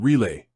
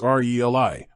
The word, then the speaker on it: relay: The actual pronunciation is RELI, with the emphasis on the first syllable. Think of it like relative or relevant. The stress is key here.